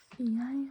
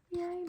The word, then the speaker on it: jeg: Jeg, meg, deg. I, me, you. All spelled with the EG, but they're all pronounced I. Also, the E is pronounced like an A. So they're pronounced like so. Jeg, meg, deg, but they're written like this, okay?